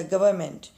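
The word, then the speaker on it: government: यानी लिखने वाली कॉपी नोट करना लिखना नोटबुक नोटबुक लिखने वाली कॉपी अच्छा गवर्नमेंट जी ओ वी आर एन एम इ एन टी गवर्नमेंट ये एन यहां पे साइलेंट होता है लेकिन इसको एन को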